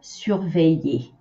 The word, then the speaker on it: surveille: of the same verb, surveiller. It should be easier to say surveiller, and then you have to trim it to say surveille. So you can see surveiller has three syllables, surveille seulement deux.